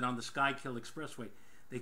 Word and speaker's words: Schuylkill: For those of you who've never been to Philadelphia and you look on a map, it's Schuylkill, not the Schuylkill Express.